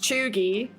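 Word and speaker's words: cheugy: Chooi, pronounced cheoogy.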